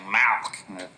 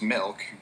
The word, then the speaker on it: milk: you're saying it wrong you're saying malk like it's a disease how do you say it i'm saying it the way everyone ought to say it milk m-i-l-k right like two percent